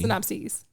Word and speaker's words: synopses: Synopses. Okay. Yeah. Like a hard E? Yeah, I think it is. Okay. Let me see the How you pronunciation. pluralize? Yeah. Okay. Long. Synopses.